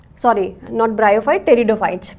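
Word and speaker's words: Pteridophytes: ब्रायोफाइट्स are consider as P silent, sorry not ब्रायोफाइट, टेरिडोफाइट्स. पी is silent, right?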